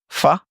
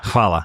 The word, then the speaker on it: Hvala: Fa? It's spelled Hvala. Hvala.